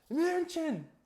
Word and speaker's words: München: excuse me, sir, is this train going to Munich? And he looks at me with just rage in his eyes, and he goes, it's pronounced München!